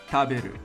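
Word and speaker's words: 食べる: It will be written taberu, taberu. The first part is the kanji and pronounced ta. Then you have the syllabic alphabet, hiragana, be and ru.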